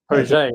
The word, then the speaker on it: Page: To our audience who's watching now or in the future, Phil Page, Phil, I'm going to get your last name wrong. I apologize. Page, right?